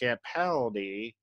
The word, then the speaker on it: Capaldi: It's pronounced Capaldi.